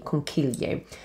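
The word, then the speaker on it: conchiglie: pasta that is called conquilier conchilier literally means little shells i'll spell it for you c-h-i in italian is pronounced with a k sound so key so con c-o-n c-h-i-g-l-i-e conquilier and that means little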